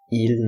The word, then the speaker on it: ils: So bear in mind that the S is not pronounced. So for example, they don't know how to write. Ils ne savent pas écrire.